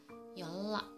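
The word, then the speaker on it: 연라: Untuk contoh yang ketiga adalah yonra, harusnya dibaca yonra, tapi yang benar pengucapannya ada yolla. Yolla.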